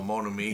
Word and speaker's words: Mon Ami: We're here today to review Mon Ami, or Mon Ami. No, Mon Ami. That's how it's pronounced.